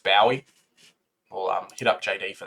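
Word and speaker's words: Bowey: matt the ball jake bobby i think his name is actually pronounced bowie we'll hit up jd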